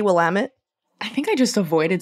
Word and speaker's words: Willamette: of butchering it well the impression you get when you see Willamette spelled out is that it's a French word so it should be you know what I mean like um but it's actually Willamette and it's derived from a native word from the region that originally translated to like water or river or whatever and it's Willamette like